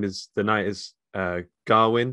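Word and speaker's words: Gawain: I've realized I've been pronouncing the guy's name is the knight is Garwin. I've been pronouncing it Garwain for years.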